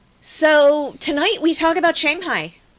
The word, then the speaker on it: Shanghai: So tonight we talk about Shanghai. Sorry, Shanghai. The A is pronounced ah.